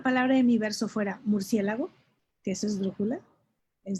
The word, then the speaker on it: murciélago: Y hay esdrújula, murciélago. El acento del murciélago hace que aceleremos la pronunciación.